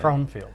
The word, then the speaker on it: Fromfield: And we're going to talk a little bit now with, and I pronounced it wrong the first time. It's Fromfield, right? Fromfield.